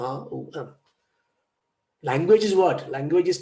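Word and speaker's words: ॐ: Now, some people, pronounce it AUM, like Buddhists do. No. Omkara, Shanti is very important. It's Om.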